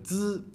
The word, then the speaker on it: zi: Eh bien, le zi n'est pas aspiré, il contient moins de friction et est plus court.